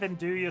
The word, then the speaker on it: andouille: And I shake the bowl up so the dried herbs go all over the pasta with the andouille sausage.